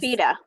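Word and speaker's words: Bieda: good it's uh beth is it biter or beta i know she told us this beta death beta music on youtube and um it's b e t h beta is spelled b i e d a and music music so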